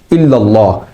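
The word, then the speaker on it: إلا الله: এখানে ইল্লাল্লাহ শব্দের প্রথম লসন যুক্ততে আকার দিয়ে অর্থাৎ জবর দিয়ে পড়তে হয়। কিন্তু কিছু মানুষ এক্ষেত্রে আকার অর্থাৎ জবরের পরিবর্তে একার জের দিয়ে ইল্লাল্লাহ পড়েন যা সম্পূর্ণ ভুল। এ শব্দের সঠিক উচ্চারণ হচ্ছে ইল্লাল্লাহ।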